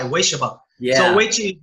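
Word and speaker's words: Ueshiba: Wei, like W-A-Y, Weishiba.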